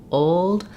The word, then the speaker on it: old: pronounced L old old I tend to use the dark L where I'm not lifting my tongue to close for the L and I just have o i use more of awah there like oh old old um I do I do have the l coloring though if I just tried to leave it out entirely old old it would sound it would sound off so I wouldn't think